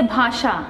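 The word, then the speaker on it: भाषा: In Hindi we say bhasha.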